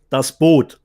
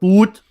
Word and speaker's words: Das Boot: Das Boot, not Boot, das Boot is the correct pronunciation.